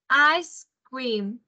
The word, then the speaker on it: ice cream: Rồi, cái này nhá, âm C và âm E này này, mình sẽ phát âm cuối nó ra là âm S. Các bạn nhá, ice cream.